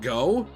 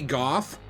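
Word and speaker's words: Gough: now here's the thing I think his name is pronounced go you know like Vincent Van go could be Goff I'm the king of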